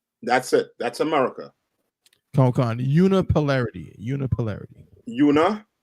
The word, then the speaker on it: unipolarity: Una, like UNA. Put it up on the screen. All right. So like I said, it's spelled UNI, but it's pronounced una, like unilateral.